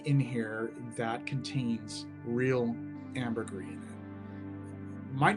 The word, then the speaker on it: ambergris: The idea that Thierry Wasser would take these floral elements, particularly the rose and the incense and this ambergris or ambergris. I still want to pronounce it ambergris based on the book Floating